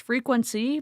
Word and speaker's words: Frequense: It's pronounced frequency, but it's spelled Frequense.